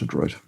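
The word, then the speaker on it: adroit: you're skillful so that's it's from the French of course and then but pronounced in English Adroid and then like high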